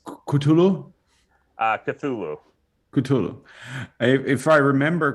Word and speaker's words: Cthulhu: So, but I was asking how do you pronounce it? It's Cthulhu.